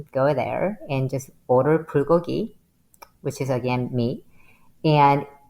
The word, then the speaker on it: bulgogi: of my favorite restaurants, and they have it's bulgogi. Is am I pronouncing that right?